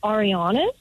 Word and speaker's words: Arianis: Her last name is Arianis, but he said Harry an hilarious.